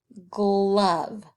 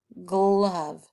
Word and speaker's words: glove: What sound is that O making? Is it making its long sound? No, it's making its short sound. Glove. But we have to have that E on the end to make it fit with the rest of the English language.